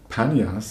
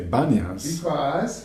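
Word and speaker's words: Banias: They wouldn't say Panyas, they would say Banyas. Because they can't pronounce the P.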